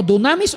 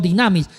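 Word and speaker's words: δύναμις: Del griego dunamis o dinamis. Depende cómo se pronuncia la yil. Puede ser la u o la i.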